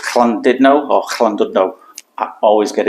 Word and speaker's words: Llandudno: speak it as it's written, it'll be called Llandudno. But I know anything with a double L in Welsh is a bit of a like you're coughing up some phlegm. But I'm not sure if it's Llandudno or Llandudno.